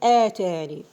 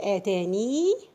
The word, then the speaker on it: آتاني: You have two ways to pronounce this word while stopping. Okay? You can drop the ya, okay? And you can skip it. You have the choice. You can say آتاني, okay? And you can say آتان. And which one is preferred? To pronounce it, to say آتاني. فما آتاني ni. This is the preferred way. But it is also accepted to say فما آتان.